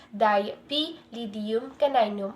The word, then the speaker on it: Dipylidium caninum: This parasite is known as Dipylidium caninum, pronounced as Dipylidium caninum, which has many common